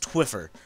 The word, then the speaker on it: Twphper: and yes it's pronounced twiffer the PHP makes kind of a funny sound today I'm going to